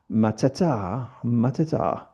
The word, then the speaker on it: Mateta: Mateta. People say that Paquetá doesn't rhyme with Mateta, but it does if you pronounce them in French and Portuguese properly.